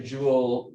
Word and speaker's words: joule: and that's why it's spelled this way not as like a rare jewel right so we usually